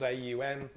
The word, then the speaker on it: Aum: by chanting on once remember on has three syllables AUM our as we open